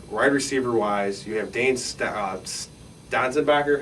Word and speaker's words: Sanzenbacher: Wide receiver-wise, you have Dane Stanzenbacher. How do you pronounce that? Sanzenbacher.